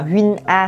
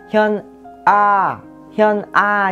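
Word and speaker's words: 현아: Không có ai tên là Huynh A hết, mà cái từ Huynh này các bạn nên đọc là chữ Hyun. Đọc nhanh là sẽ đọc là Hyun. Vậy mà sẽ có là Hyun A chứ không có đọc là Huynh A nha.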